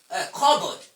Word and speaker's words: cupboard: You say cupboard, cupboard, cupboard. It's not cupboard, it's not cupboard. This p is silent, pa sound is silent.